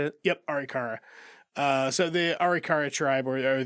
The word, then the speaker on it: Arikara: Yep, Arikara.